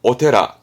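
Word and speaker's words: お寺: 샤지 샤지이지만 많이 쓰진 않습니다 뜻으로 많이 쓰죠 발음은 오테라 오테라 보통은 테라죠 오테라 아노 오부 오테라 쓰는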